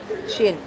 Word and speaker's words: Qin: Okay, the pronunciation was Qin. So, Qin that related with the China.